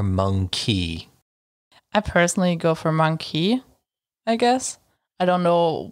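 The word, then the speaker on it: mon-keigh: Obviously, it's supposed to be monkey, as an ape.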